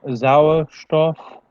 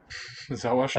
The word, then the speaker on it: Sauerstoff: Sie kollidieren mit den Sauerstoff- und Stickstoffatomen in der Luft und regen diese vorübergehend an. Remember not to pronounce that H as an H.